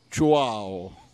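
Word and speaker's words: Chuao: Beh, è difficile pronunciare, si chiama, vorrei dire intanto ciao a tutti, ma lo diciamo in linguaggio di qua, ciao. Ciao si scrive C-H-U-A-O.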